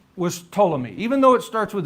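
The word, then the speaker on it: Ptolemy: One of his generals name was Tommy. Even though it starts with a P t o l y pronounce it to one of his general's name was Cassander.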